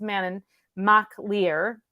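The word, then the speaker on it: Manannán mac Lir: have to write it mannan is manon it's pronounced man in mach lear and maclear means son of the uh of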